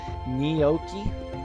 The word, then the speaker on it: gnocchi: It's like gnocchi. Oh, gnocchi. Gnocchi. Gnocchi. Yeah, I know what you're talking about, Gargaduke. But gnocchi is the way that us Americans, us dumb Americans, pronounce it.